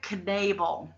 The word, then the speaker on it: Knabel: her name is Andrea Knable so you do say the king and it's pronounced as it's spelled and she want us